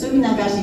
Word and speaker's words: Suminagashi: Suminagashi is a mouthful. It's very hard to say. And that's the first time I can say faster than anybody else and without feeling like I mispronounce anything. It's Suminagashi.